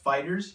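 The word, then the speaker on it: FighterZ: official name is Dragon Ball fighters and it's pronounced fighters you don't see the Z it was just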